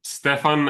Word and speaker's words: Stjepan: pronouncing it but uh if you do Stefan any form of Stefan is completely fine I'm a creation but